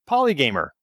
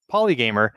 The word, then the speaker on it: Polygamer: that it had the potential to be misinterpreted poly gamer you look at it the way it's spelled could be polygam or even if you do pronounce it correctly poly gamer I've had people say oh it must be